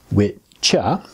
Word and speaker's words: wicca: Witcha, it's actually pronounced witcha, how we get modern witch from.